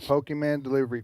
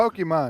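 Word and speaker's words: Pokémon: That's what you got your Pokemon food delivery service.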